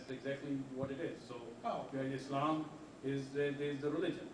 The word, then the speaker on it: Islam: of Z so Muslim Islam Islam soft s again Islam peace again that's